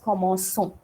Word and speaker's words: commençons: So here I don't want that commenco sound. So what I am doing, I am using the sedile here, a small s. So you will pronounce this as commençons.